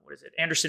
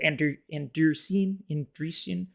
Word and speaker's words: Andreessen: I'm a big fan of what Asington Z, Anderson Horowitz, he says, Andreessen. Oh my gosh, I'm pronouncing his name wrong every single time.